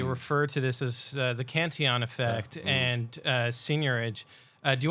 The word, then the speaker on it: Cantillon: I can never pronounce his name properly because he's like Irish French. So is it Cantillon or Cantillon? Cantillon. Yeah. You're the French dude. So Cantillon.